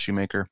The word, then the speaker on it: Schumacher: So spelled Schumacher, pronounced Schumacher.